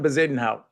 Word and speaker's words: Bezuidenhout: Christian Bezuidenhout.